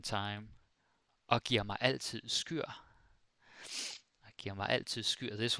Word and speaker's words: skyr: Maybe someone would say skier. And there's actually a debate in Denmark going on if it's pronounced skyr or skier. But I just say skyr because it's easy to rhyme with other words.